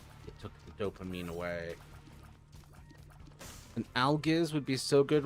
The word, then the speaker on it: algiz: It's pronounced algiz.